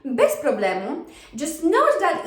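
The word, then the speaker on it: bez problemu: right so best problem best problem just note that even though we have the letter z there it doesn't really sound like z it's not that strong we pronounce it more like an s so best problem because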